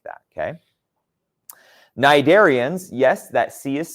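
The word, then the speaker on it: cnidarian: you can think of them like that okay narian yes that sea is silent it's not sidari it's nid darians okay narian like jellyfish and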